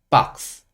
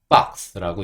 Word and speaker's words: box: 그래서 빠 그다음에 여기는 그래서이 단어를 박스 박스라고 읽는 거예요 아주 크 소리는 작게 들리죠 그래서 그거를 좀 봐